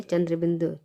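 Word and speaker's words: चाँद: तो कैसे उसका उच्चारण होता है, पाँच, चांद, मतलब मुंह से भी आवाज़ निकल रही है और नाक से भी आवाज़ निकल रही है, आँख, पाँच, चांद और आँख।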